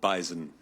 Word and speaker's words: bison: animal that is called Bison it is it does have a z I agree with the